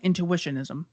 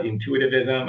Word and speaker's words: intuitionism: is the uh thesis of your book ethical intuitionism yeah um by the way i'm glad that you pronounced that correctly because about half of uh